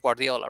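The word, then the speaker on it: Gvardiol: or well that's peg guardiola right joseph guardiola but he's uh his name is guardiol if you pronounce the u like the v like the u you know which is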